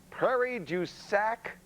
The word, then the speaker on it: Prairie du Sac: lot nick joins us on the phone from prairie du sac wisconsin is that is that how you say